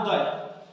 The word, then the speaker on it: Udai: mascot करछि ता नाम उदय नेक्स्ट पढ़ लेखो मास्कट उदय तो स्पेलिंग लेछि कि अलग UDAI किंतु देखो UDAI उदय किंतु स्पेलिंग लेछि UDAI उदय मास्कट MASCOT मास्कट केतना